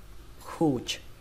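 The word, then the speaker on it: cooch: Cái âm đầu tiên, cái âm này, âm C này chúng ta sẽ đọc là âm khờ. Đẩy hơi nó ra, khờ. Khụt, khụt, khụt. Từ này có nghĩa là cô bé. Tức là cái bộ phận mà chúng ta gọi là cô bé đấy. Các bạn hiểu không? Khụt. Kết thúc bằng âm chờ bắn hơi, khụt.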